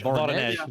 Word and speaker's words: Voronezh: Voronezh. There you go. Voronezh.